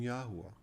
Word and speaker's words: Yahuwah: say about the pronunciation yahuwah well it's based on how the name looks at the end of men's proper names which is yahoo as in eli yahoo elijah add an ah to yahoo and you have yahuwah